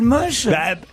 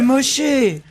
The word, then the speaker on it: Moché: Non, il s'appelle Moche. C'est Moché.